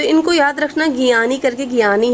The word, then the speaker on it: Gianni: ठीक है, spelling note कर सकते हैं, GIANNI गियानी। ठीक है, इन्फेंटिनो INFANTINO फ्रॉम स्विट्जरलैंड। तो इनको याद रखना, गियानी करके, गियानी है प्रेजेंट टाइम में।